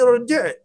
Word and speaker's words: ارجع: تو اب اس کو تلفظ کرنے کے لیے ہمیں حمزۃ الوصل تی کے ساتھ کہنا ہوگا. تو اب ہم کہیں گے ارجع بعد ساعت.